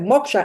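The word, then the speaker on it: moksha: Moka and everybody's like what sorry I said Moka m o k s h a i spell it for them you know and MOA Atman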